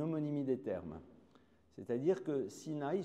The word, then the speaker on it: Sinaï: des termes c'est-à-dire que Sinaï se prononce de la même manière qu'un autre nom qui est le mot sin a sin a ça veut dire la haine alors intéressant de voir